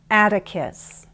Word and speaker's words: Atticus: Remember to make it sound like a D. Peter, Carter, Atticus, Natalie, Felicity, Catalina.